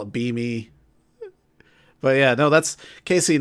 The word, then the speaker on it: Beme: Oh, I thought that was supposed to be like Beamy or something. Nah, it's called Beam. Just Beam. Okay. It does make more sense to call it Beamy.